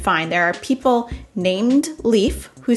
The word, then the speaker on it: Leif: a number of ways so apparently in sweden finland and the more western parts of scandinavia this name is pronounced leaf as in sort of like the same pronunciation of safe and in some parts of scandinavia this name is pronounced life and if you are an english speaker you can go ahead and say leaf as in the homonym of like leaf as in leafs on plants and all are generally